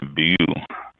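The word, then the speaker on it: Beaulieu: my tongue away bu Vineyard there I go bu Vineyard b euu b a u l i e u bu and that's how it's pronounced the L bu I've had people on bu Vineyard that tell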